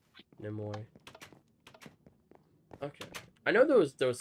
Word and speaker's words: Nimoy: Voiced by Leonard Nimoy? How do you pronounce that? Nimoy. Nimoy.